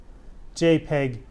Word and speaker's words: JPEG: few different formats but realistically speaking only GIF JPEG and PNG would be considered standard so GIF